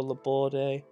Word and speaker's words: Laborde: Laborde that's hi pronounce I'm pretty sure Laborde the border 78 rated card French